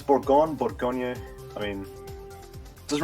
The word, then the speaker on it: Bourgogne: It's Bourgogne, Bourgogne. I mean, it doesn't really matter how you pronounce it.